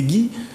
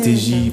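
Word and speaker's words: Teggy: Alors, en fait, c'est écrit T-E-2-G-Y, mais les 2 G se prononcent en J. Donc, pour ne pas que les gens se disent, parce que souvent, quand j'étais petit, mes professeurs, ils disaient c'était Guy.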